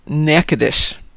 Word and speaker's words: Natchitoches: And Louis Satchmo says there's a town in Louisiana named Natchitoches, but it's pronounced Natchitoches.